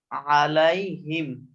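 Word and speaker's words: عَلَيْهِمْ: আলাইহিম, আলাই আইনটা উচ্চারণ একটু খেয়াল রাখতে হবে, আইনের উচ্চারণ, আলাইহিম, আলাইহিম।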